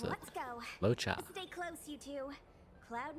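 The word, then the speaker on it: Luocha: Something. Locha! Is that right? Locha. I remember it. That's how you pronounce it. Let's go. Locha.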